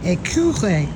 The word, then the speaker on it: écureuil: Écureuil.